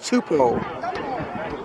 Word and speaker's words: Tupou: We learned that his last name is pronounced Tupou.